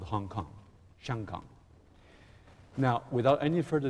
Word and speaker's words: 子: Although I got to be careful, my dear friend, because the same character zi in Chinese, in Japanese, it pronounced ko.